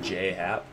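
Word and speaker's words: J.A. Happ: I guess J. pronounces his name as if there was a Y at the end, as in J. Oh, so it's just J. Happ, not J.A.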